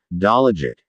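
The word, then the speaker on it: Dalaguete: Osmeña Peak in Mantalongan, Dalaget pronounced Dalaget, you can climb the Osmeña Peak of Cebu.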